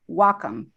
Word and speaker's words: Wacom: of supplying and supporting the creative Community it's pronounced W which means Harmony in Japanese come as computer Wacom but hey we will answer whatever you call